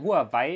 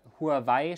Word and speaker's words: Huawei: Huawei ist sogar chinesisch ausgesprochen, Huawei ist deutsch ausgesprochen. Das ist so das Ding.